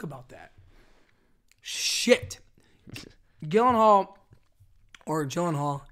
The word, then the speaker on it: Gyllenhaal: Or Gyllenhaal.